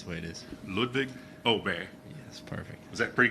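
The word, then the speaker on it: Åberg: I'm sorry and um in Swedish there's a little circle above my a so that makes it pronounce elbow I know it's a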